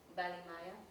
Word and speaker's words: Balimaya: So I want to start off with the name of your group, Balimaya. Okay. Am I saying it right? Balimaya.